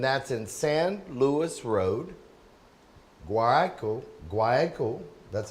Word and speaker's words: Guayaquil: Creed Auto, and that's in San Luis Road, Guayaquil, that's how you say it, right? Yeah, Guayaquil.